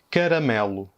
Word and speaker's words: caramelo: La première, c'est caramelo. Caramelo, ça veut dire caramel. Bon, dans cet exemple, caramelo, le son, c'est toujours E.